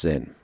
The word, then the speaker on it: Zen: When that came to China, it's termed Jhun, which is spelt Chan. Jhun Buddhism is the Buddhism of jhana, the Buddhism of no mind. And when that reaches Japan, then the pronunciation becomes Zen.